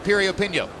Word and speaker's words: Piriyapinyo: Once again, the name begins with a P, but it's pronounced Piriyapinyo. Go figure.